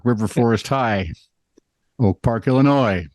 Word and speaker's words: Illinois: So, when Oak Park and River Forest High Schools in Oak Park, Illinois, notice there is an S at the end, but it's not pronounced.